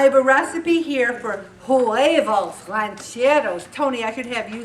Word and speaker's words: huevos rancheros: there okay I have a recipe here for juevos Rancheros Tony I could have you say it for me he's a Spanish teacher at OCC but how do you say it huevos rancheros inspired spaghetti squash listen to this a medium